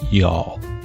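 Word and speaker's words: Youghal: Y O U G H A L is pronounced y'all.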